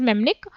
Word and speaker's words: mnemonic: देखिए स्पेलिंग देखिए मैंने मेमनिक करके, थोड़ी अलग है प्रोनाउंस करने में, बट इट is known as मेमनिक।